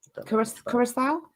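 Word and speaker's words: Curaçao: Kurakawa. I don't know how it's pronounced. Kurissau.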